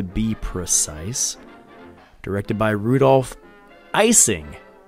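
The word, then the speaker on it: Ising: Directed by Rudolph Icing, like an eyeball.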